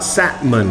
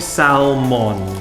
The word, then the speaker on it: salmon: ภาษา อังกฤษ เรียก ว่า salmon นะ ครับ แม้ เรา จะ สะกด ด้วย L ก็ ตาม นะ ครับ เรา จะ ออก เสียง เป็น แซ่บ หมื่น ไม่ ใช่ ซัล มอน แซลมอน นะ คน หาย